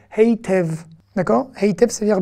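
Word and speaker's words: היטב: Donc, les Israéliens, un peu à la Yiddish, prononcent le yud, même parfois quand il n'a pas de voyelle. On avait dit, quand on n'a pas de voyelle, en dessous le yud, il ne se prononce pas. Mais là, oui, quand c'est un e et qu'il est au milieu d'un mot, on va le prononcer.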